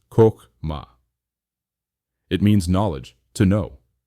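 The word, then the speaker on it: חכמה: First, we encounter Chokhmah, pronounced Chokhmah.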